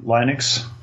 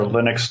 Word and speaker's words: Linux: As soon as you said penguin, I think Linux, or Linux, depends who's pronouncing it.